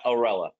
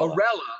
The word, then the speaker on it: Orella: in Canadian the the it's like it's almost like umbrella but orella yeah the umbrella group